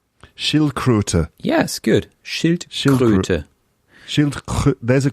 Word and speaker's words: Schildkröte: Okay, so Schildkröte. Yeah, good. Schildkröte. Yeah, the O sound is an umlaut. So we say Ö. Schildkröte.